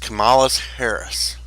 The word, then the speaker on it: Kamala Harris: It's pronounced Kamala Harris.